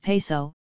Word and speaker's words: Piso: creation of the Calpurnius Piso, pronounced Peso, one family, who were Roman aristocrats.